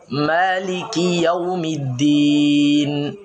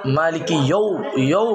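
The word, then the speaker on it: مالك يوম الدين: মালিকি ইয়াউমিদ্দিন। মালিকি অনেকে মালিকি ইয়ৌ বলে, এটা হচ্ছে ভুল।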